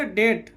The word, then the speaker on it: debt: डेट। यहाँ बी क्या है?